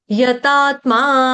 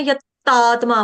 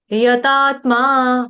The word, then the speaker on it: यतात्मा: य के बाद जो त है वो डबल त नहीं है। यतात्मा यतात्मा यतात्मा सिंपल फ्लो में यतात्मा कोई दबाव नहीं डालना। यतात्मा ऐसे नहीं करना है यतात्मा सिंपल डबल त नहीं है डबल त का उच्चारण नहीं आने देना यतात्मा दृढ़ निश्चय मर्पित मनो